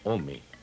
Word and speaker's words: ome: El numeral del año es dos, que se pronuncia ome.